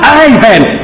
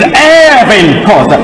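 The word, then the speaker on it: Irvin Khoza: He would yell, "For heaven's sake, he is not Ivan, he is Evan Kosa. He is Evan Kosa. The IR is pronounced ER, Evan Kosa, not Ivan."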